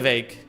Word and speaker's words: week: It's pronounced wake, like vague. Oh, it would be vague. Yeah. Elke week.